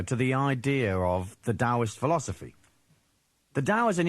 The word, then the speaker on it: Taoist: So it's written Taoist and pronounced with a D, Taoist.